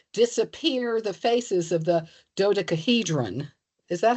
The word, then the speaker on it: dodecahedron: In chemical news, we progressively disappear the faces of the dodecahedron. Is that how it's pronounced?